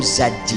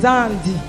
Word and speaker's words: Zandi: C'est Zandi. C'est qui? C'est mon époux. Mais on est- Pourquoi depuis que je parle, vous ne venez pas? Vous avez dit Zadi. C'est Zandi. C'est la prononciation, mon père.